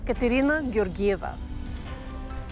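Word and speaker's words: Katerina Georgieva: i speak the language and the bulgarian pronunciation of my name is katerina girgiva i was a theater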